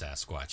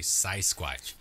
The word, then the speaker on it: sasquatch: Johnny jerk nobody would he couldn't pronounce I remember his dad was the one that told us it was sasquatch it probably got the whole myth going but he couldn't the kid good pronounced sasquatch he can only say sighs Squatch so he he was